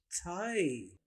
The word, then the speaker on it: thigh: आपने तेजी से मिला के पढ़ना है, थाई। जिस स्पेलिंग आपने याद रखने हैं वो है THIGH, थाई।